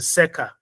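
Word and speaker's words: circa: The C is is the Latin seca. C I R C A sea means around.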